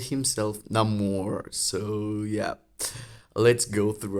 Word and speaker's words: Namor: It's Namor. There is no name more. The name of the mutant, it's Namor.